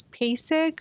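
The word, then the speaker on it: PASEG: also known with the acronym p-a-s-e-g pronounced as pasig or pass then we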